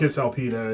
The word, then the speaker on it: Cisalpina: be Cisalpina. It's actually a hard C.